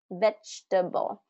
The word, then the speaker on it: vegetable: This one, vegetable, vegetable, vegetable. Now this one's interesting because it has more of that ch sound in it, even though it has a G, vegetable.